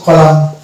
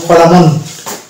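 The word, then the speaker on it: column: এখানে এন্ড থাকছে তারপরে এই শব্দটা এটা হচ্ছে কলাম কলাম আমরা যদি এটা জানি তাহলে কলামুন কলামুন কিন্তু উচ্চারণ এটা হচ্ছে রং প্রোনাউন্সিয়েশন তাহলে আমাদের উচ্চারণ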